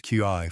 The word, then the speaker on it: qi: The invisible vital force called qi, pronounced qi, flowed through every living being.